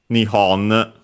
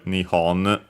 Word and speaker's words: Nihon: for Japan since uh Japan in Japanese is said Nihon or also uh the uh other pronunciation. But nowadays you'll more often than not hear nhon uh but also nippon which uh uh can be heard also in other languages.